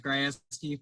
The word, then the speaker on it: Grajewski: tonight yeah sure uh my name is grasski for those that don't know i'm sure most don't know how to pronounce it kind of throws everyone for a